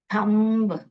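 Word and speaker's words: thumb: next अभ अ थम य ब जो लास्ट में आ रहा है उसको एक्चुअली ब नहीं पढ़ना चाहिए साइलेंट है आप कैसे पढ़ोगे थम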